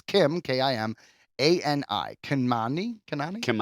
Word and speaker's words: Kimani: So, Meredith Konami, uh, Kimi, sorry, I I always have trouble pronouncing the last name, but it's Kim. K I M A N I. Kani. Kanani. Kimani.